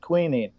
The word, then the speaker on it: quinine: you use something like quinine, like if you go to Walmart and you get tonic water, look on the bottle and it'll say with quinine or quinine. Some people pronounce it different ways.